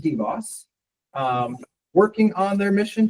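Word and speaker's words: DBOS: engineer at deoss how do you say it deboss right deoss it is pronounced deboss um working on their mission to dramatically simplify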